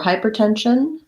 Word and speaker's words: hypertension: discipline um so for hypertension hypertension we kind of have a stress unstressed pattern here hypertension the main stress is on the 10 of tension secondary stress on the first syllable of hyper and you may find